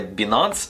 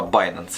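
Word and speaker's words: Binance: допомогою баййнанса До речі читається правильно не bінанс А bйanceс щоб просто ви розуміли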